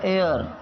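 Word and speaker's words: heir: में ए आता लेकिन इसका जो उचित जो सही प्रोनंसिएशन है जो इसका सही उच्चारण है वह एयर एयर इसका सही उच्चारण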